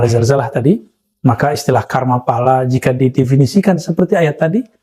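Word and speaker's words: phala: Pahala itu jika ditulis P-H-A-L-A. Kita membacanya pahala. Tapi orang-orang yang berbahasa Sanskerta menggunakan pala.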